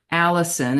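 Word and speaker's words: allicin: its pungent flavor and and fragrance is called Allison and that's spelled Al l l i c i n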